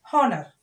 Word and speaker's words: honor: honor. Honor. We will pronounce it as honor. We will pronounce it as honor. We will pronounce it as honor, children. Means we will, H is silent here.